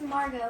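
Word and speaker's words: Margaux: No, her name is Margot, but it's spelled like M-A-R-G-A-U-X.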